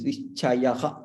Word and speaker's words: निश्चयः: युद्धाय कृतनिश्चयः निश्चयः निश्चयः we don't elongate this. Nischayah.